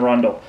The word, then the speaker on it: rondel: and I believe these are used in the rondel. Rondel. Yeah, that's what it's pronounced.